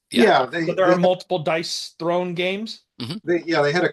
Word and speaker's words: Dice Throne: seven dice Throne Marvel so that's not dice Throne like a chair made of dice that's dice thrown as in throwing the dice dice who would spell